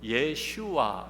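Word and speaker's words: 예슈아: 이름 예수 라는 이름 영어로는 제 서스 라고 되어 있죠 그런데 그 히브리 발음은 요 예 슈아 입니다 예수와 예수 하는 건데 구약의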